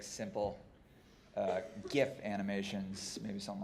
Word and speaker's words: GIF: be like simple uh GIF animations maybe something like that but it's pronounced Jiff no it's not it's GIF it's a g no choosy animators choose gif creamy gifs are generally